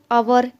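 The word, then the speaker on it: hour: नहीं करने वाले हैं it will be नोटिसड that the words honest आवर and begin with Wavell sound as the initial consonant H इज not pronounced अब यहां कुछ ध्यान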